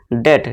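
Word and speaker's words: debt: ठीक है दोस्तों, अब देखिए टी से पहले क्या है, बी है, तो सीधा ही बस यहाँ समझ लीजिए बी हमारा क्या है, साइलेंट होगा, यानी कि बी को हम नहीं पढ़ेंगे, सीधे क्या पढ़ेंगे, डेट, DET।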